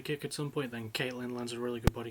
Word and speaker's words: Katlyn: i know caroline caitlin i think it's pronounced caitlyn even they're spelled k-a-t-l-y-n i'm actually looking at